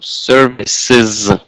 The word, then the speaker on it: services: If you can pronounce it with, if you could please pronounce it with sound z in the end. So services, services, like hotel services.